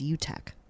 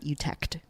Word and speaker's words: Utek: my last name is Utek, and you don't really pronounce the T at the end. It's not Utect, which most people actually say Utech. That's what I most commonly get.